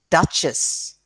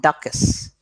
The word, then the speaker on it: duchess: is there count countess duke duchess okay not ducas all right duke and duchess and count and countess